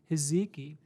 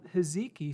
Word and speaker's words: hijiki: story 8 000 micrograms heziki so hezeki spelled hijiki i've heard it pronounced both ways that's these little green